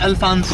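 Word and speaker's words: Alphonso: it's real pronunciation is Alfonso.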